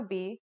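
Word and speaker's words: بِ: the pronunciation will now be ba next this is a Kasra this is now pronounced as B and finally here's the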